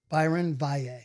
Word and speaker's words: Byron Valle: So finally, I see somebody in a fucking Instagram comment like, now maybe he'll learn to pronounce his name properly. I'm like, fuck. And then Byron Valle.